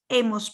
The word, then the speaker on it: hemos: So now the H is not pronounced. Hemos pasado.